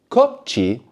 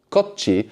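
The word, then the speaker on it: こっち: So this is a double consonant, which is actually kind of pronounced a bit like a Cockney T, like water. Yeah. No, kochi, kochi. So there's like a little pause there. Kochi means this way.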